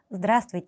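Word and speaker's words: Здравствуйте: 그래서 우리 러시아에서 드라 소위를 사용하는 경우는 우리보다 위은 혹은 처음 만났을 때 모르는 사람한테 하는 인사는 드라스 이렇게 발음을 해 주시면 됩니다.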